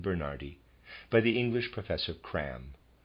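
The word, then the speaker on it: Cramb: by the English Professor cram readers aside spelled c r a m b and of readers aside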